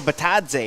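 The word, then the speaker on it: Bitadze: Gogo Batadze.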